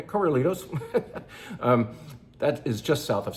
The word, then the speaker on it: Corralitos: Can we just say it like we're in California? Corralitos.